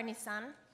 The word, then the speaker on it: Nitzan: You know the car Nitzan? That's how you say it, Nitzan, right?